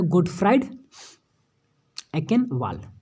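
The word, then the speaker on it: Gottfried Achenwall: क्या है, गोटफ्राइड एंकेनवाल, इनका प्रोनाउंसिएशन यही है, ठीक है।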